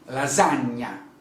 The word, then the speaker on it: lasagna: cappucino good okay um another sound that we have in italy and a typical italian sound is the sound gn gn we pronounce